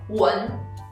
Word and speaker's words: 我们: For example, 我们. When you say it fast, we don't say 我们. What do we say instead? We say 文. 文. You couldn't hear the last sound n, so it's 文.